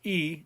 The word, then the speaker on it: y: use the word y which is e the letter y igrega is pronounced e and it means and